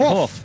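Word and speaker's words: Hauff: scorer was Paul hoof yeah that's the way you pronounce it off yeah you hoofed it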